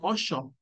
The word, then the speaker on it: ocho: Per esempio, la pronuncia della lettera CH qui in Messico, nel norte di Messico, le persone dicono, non dicono ocho, dicono osho, osho, ¿ok? Pronunciano la che como sh.